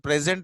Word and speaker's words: present: For Indians, both present and present, they sound same, but and we pronounce the same as well.